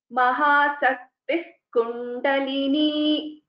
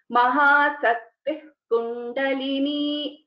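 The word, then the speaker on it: महाशक्तिः कुण्डलिनी: So when we are pronouncing this together, Mahasaktih Kundalini, so it is like half visarga. Mahasaktih Kundalini.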